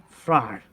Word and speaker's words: Fry: it properly um okay fr fry okay it's like you're saying raw i understand now um and